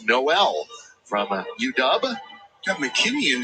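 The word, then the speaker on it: Nowell: uh want to apologize to Jaylen Noel for mispronouncing his last name it's Noel from udub got mckin in the game so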